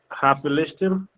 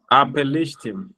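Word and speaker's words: הַפְּלִשְׁתִּים: Apelishtim. There you go. So this is a classic case of wanting to be mindful of the mapik inside of the fe. So it's a pei, a P pronunciation.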